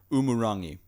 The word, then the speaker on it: Umurangi: This game is called, I'm going to say it wrong, Umurangi Generation, right? Almost. Did I get it wrong? It's a soft G. Umurangi.